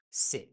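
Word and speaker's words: ث: For Se, 3 dots above. In Persian, it is pronounced, just like s in French.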